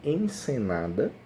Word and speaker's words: encenada: A pronúncia acaba parecendo um pouco com ensinada, né? Sobre ensinar. Mas não, nesse caso aqui, encenada é de encenar, transformar em cena, uma cena.